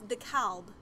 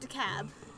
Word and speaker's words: DeKalb: No, and like my grandpa, he insists it's DeKalb, not DeKalb. It's DeKalb County. Yeah, no, he says it's DeKalb. Because that's how they pronounce it up north.